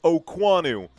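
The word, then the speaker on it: Okuayinonu: And I know it's spelled Okua Yinonu, but he pronounces it Okwanu.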